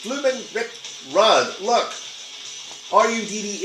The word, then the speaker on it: Rudd: that he was Ricky Rude. No, not that Ricky Rude. No, dude, it's bloomin' Rick Rudd. Look, R-U-D-D is pronounced Rudd, you tool.